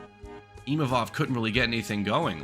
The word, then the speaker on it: Imavov: I did not know Imavov, that's how you say it.